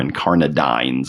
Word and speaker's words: incarnadine: have this incarnadine or incarnadine I think is how you'd have to pronounce it to have it rhyme with shines uh incarnadine it's a four